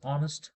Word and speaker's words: honest: honest is honest person actually it starts with H but what we think normally is a a honest person no it's honest we pronounce o sound then you have to